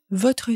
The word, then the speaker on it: votre: Она не произносит votre, она произносит votre situation familiale. Votre situation familiale. Буква R выпадает вместе с немым «э». В беглой речи это нормальная ситуация.